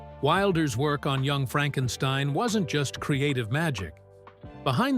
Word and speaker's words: Frankenstein: Frederick Frankenstein, pronounced Frankenstein.